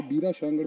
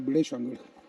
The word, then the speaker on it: बिड़े शांगड़: English में इसे बीरा शांगड़ पढ़ सकते हो आप, बट एक्चुअल प्रोनाउंसिएशन है बिड़े शांगड़।